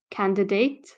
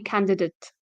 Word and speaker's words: candidate: the at you would you would think it's like date candidate but it's actually candidate candidate and that's because as